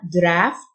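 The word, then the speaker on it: draught: silent يعني جفاف أما draft الgh تنطق ف يعني تيار هواء loud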